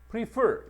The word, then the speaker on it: prefer: 그다음 prefer. 요거는 강세를 좀 잘 봐야 돼. 강세가 뒤에가 있다. prefer라고 해서 뒤쪽에다 강세를 두게 되고 요거는 비교급 동사라 그래.